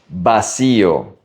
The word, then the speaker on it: vacío: Pay attention to the pronunciation. Vacío. The V is a B.